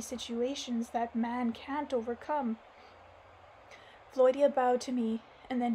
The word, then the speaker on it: Volodya: Oh, they're telling me here in the footnotes how to pronounce his name. It's Volodya.